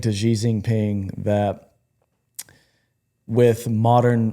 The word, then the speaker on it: Xi Jinping: Xi Jinping. Wow. Did you see this? Y'all are bold for pronouncing that.